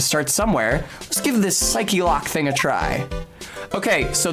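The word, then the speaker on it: Psyche-Lock: Quine I misread this as psych loock when I was in Middle School like a bike lock I thought it was a pun um it's psyche lock though cuz that's how that word is pronounced in English so if at any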